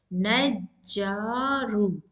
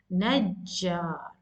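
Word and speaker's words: نجّار: Likewise, you need to stress more on jim. Najjar, najjar.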